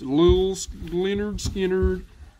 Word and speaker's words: Lynyrd Skynyrd: This one is pronounced Lynyrd Skynyrd.